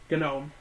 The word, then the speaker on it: gnome: not elf not elf gnome how are you a gnome if you don't even know that the G and gnome is silent G know it's G yeah